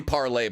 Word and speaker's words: Parler: everybody they're so hot it's actually parler by the way I've been saying it wrong the whole time I just don't really